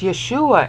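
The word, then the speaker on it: ישוע: here this is Jesus e yeah soos three syllables so classical Greek speaker but it's Yeshua and here ooh alright so that's yes two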